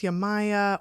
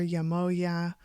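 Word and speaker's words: Yemayá: It's pronounced Yamaya or Yamoya, or sometimes Yamoha, because there's a J sometimes in there, sometimes there's a Y.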